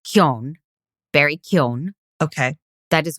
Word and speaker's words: Keoghan: Barry Keoghan.